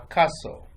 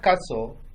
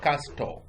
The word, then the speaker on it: castle: king a queen a castle the word Castle the t is silent Castle don't say Casto Caso a castle is the